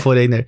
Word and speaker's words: Foreigner: é foreigner isso né É assim que se pronuncia foreigner é tem essa música que eles fizeram em